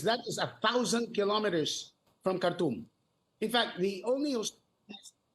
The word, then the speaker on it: Khartoum: Because from Khartoum. Once they get through, yes, from Khartoum, or as they pronounce in Arabic, Khartoum, once they arrive at the border, they will